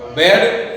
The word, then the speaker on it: bird: Bird, first letter B. ये pronunciation B-I-R-D, इसमें bird बोलेंगे. B-I-R-D, R sound नहीं है, R silent है. B-I-D, bird.